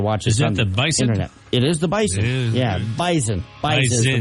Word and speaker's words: Bison: interet it is the Bison yeah bison bis is the way they pronounce it they're picky about how they pronounce that yeah it's like a z even though spelled with an S but whatever North Dakota